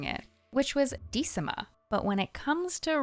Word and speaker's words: Decima: from this achievement is how to pronounce Decima, which was pronounced in this quest by Branwen. Which, go figure, I'm probably mispronouncing their name. I find Decima sounds so much nicer than how I was reading it, which was Decima.